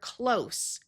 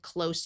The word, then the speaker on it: close: For example, I live close to work. When we change it to the Z sound of the word close, it becomes a verb. For example, close the door.